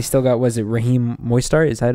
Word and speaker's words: Mostert: And they still got, was it Raheem Mostert? Is that how you say it? Yeah, Raheem Mostert.